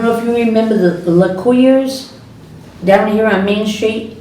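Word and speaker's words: Lecuyer: Yeah, but she's saying it the way they, Yeah, it's not LeClaire, it's L-E, LaCour. I know she said you were saying it wrong. Yeah, They pronounce it different. yeah, it's L-E-C-U-Y-E-R, L-E-C-U-Y-E-R, LaCour.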